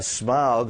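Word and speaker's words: Smaug: to start with uh smog who's apparently I'm told that's the correct pronunciation we started working with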